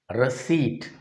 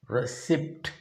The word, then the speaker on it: receipt: the fourth word r-e-c-e-i-p-t receipt this word should not be pronounced as receipt p is silent here this is pronounced both